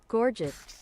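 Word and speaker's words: gorget: Gorgget. All right, that's how we're doing it. American pronunciation.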